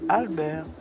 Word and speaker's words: Alber: Try to say Albert. And they said spell it. I said it's the same, but just don't pronounce the T.